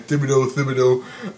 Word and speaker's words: Thibodeau: These guys made the decision to get rid of Thibodeau or Tibbs or however some people pronounce his name. Thibodeau.